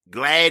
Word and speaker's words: Glade: Glade is a proper pronunciation.